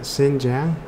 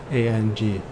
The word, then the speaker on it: Xinjiang: For China, it's mostly the, I don't actually know how to pronounce it, Xinjiang. Xinjiang.